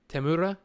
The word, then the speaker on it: Temuera: Tamura. Like it's almost like you have to roll the R a little bit. Tamura, right?